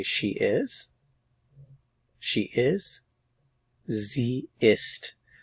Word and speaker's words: sie ist: is she is zist notice it's Z with a lowercase s remember that the Z with a capital s means U formal so this is the Z that means she they're pronounced the same so context will tell